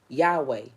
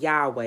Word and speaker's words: Yahweh: But a lot of people pronounce these four letters YHWH as Yahweh.